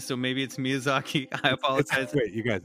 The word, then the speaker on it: Miyazaki: I'm going to get yed that for Mis pronouncing myazaki so maybe it's Miyazaki I apologize wait you guys it's Miyazaki and